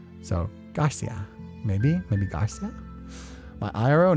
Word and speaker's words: Garcia: It's because Portuguese has more nasal tones while the Spanish pronunciation rolls a bit of the R. It's more pallet focused. Oh, Garcia. So, Garcia, maybe.